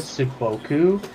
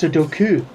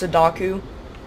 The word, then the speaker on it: Sudoku: commit death seppuku I'm gonna sodoku my life Sudoku a friend of mine literally like I think a friend or more witch friend it was like I said sakoku and they just there's like no it's Sudoku like so book no yeah I always just